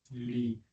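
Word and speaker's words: לִי: ¿Cómo se pronuncia? Li.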